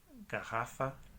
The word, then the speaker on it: garrafa: Ok, doble R también es ese sonido de G viniendo de la garganta. Por ejemplo, garrafa.